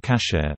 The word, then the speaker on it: kasher: Food that may be consumed according to halakha, Jewish law, is deemed kosher in English, Yiddish, from the Ashkenazi pronunciation of the Hebrew term kasher, meaning fit in this context, fit for consumption.